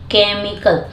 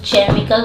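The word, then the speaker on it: chemical: केमिकल देखिए CHA, लेकिन इसको क्या पढ़ते हैं, केमिकल, यहाँ पे एच साइलेंट रहता है, इसको पढ़ते हैं केमिकल, इसको चेमिकल पढ़ेंगे तो गलत होगा, इसको पढ़ते हैं केमिकल।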